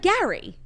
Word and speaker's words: Gary: Gary oh it's like Gary g a r y it's pronounced g a i r y so you're adding a